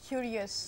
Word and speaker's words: curious: Then there are words which are ending in O-U-S. Ending in? O-U-S. Syllable that precedes. Curious. This is to be made prominent.